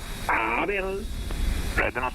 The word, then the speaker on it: Abel: Di mana-mana Abel, di sini Abel. Told you so, this is the first place where my real name was pronounced correctly.